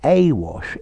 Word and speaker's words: Awash: Oh, and just as a little aside, the Awash is a river in Ethiopia. Notice the difference in pronunciation. Awash, but here to be awash with, starting with a schwa sound.